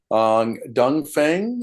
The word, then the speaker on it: Dongfeng: night on CBC News Dongfeng I think is how you say this particular manufacturer.